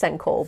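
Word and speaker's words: 線香: senko there's a lot of kind of words pronounced senko with different kanji but anyway this is my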